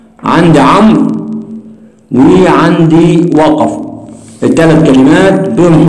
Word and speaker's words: عمرو: اللي هو في كلمة عمرو، عندي هنا هنقول الواو في كلمة عمرو، الواو في أولئك برضو